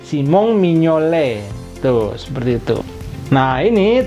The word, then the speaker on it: Mignolet: Mio Mio kemudian akhiran Ate itu alfabet ya bacanya e Simon mignolet tuh seperti itu Nah ini terakhir adalah kipernya